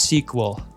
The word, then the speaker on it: SQL: Oh, I said SQL, and it's pronounced sequel.